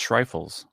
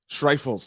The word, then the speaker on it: Schreifels: Today, I have Schreifels. I think I pronounced it properly. I should have asked you before. I keep forgetting to ask how to pronounce last names. Okay. It's German, so it's Schreifels. Schreifels.